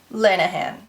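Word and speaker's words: Lanagan: when I mentioned this I said her name wrong it is Margo lanan Lanahan I won't talk too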